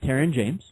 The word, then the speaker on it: Terron James: All right, so we're sitting here with Terron James. I'm pronouncing it correctly.